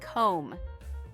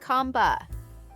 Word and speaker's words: comb: Yes, just like comb. You comb your hair. Not comb.